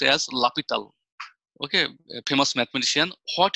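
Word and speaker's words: L'Hôpital: What I am going to do, the name of the mathematician is this, but it is pronounced as L'Hopital. His name is this, L'Hopital, but it is pronounced as by L'Hopital.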